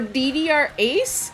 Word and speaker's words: DDR A: Because for DDR Ace, it's the letter A, but they pronounced it as ace, like, the ace of spades and stuff like that.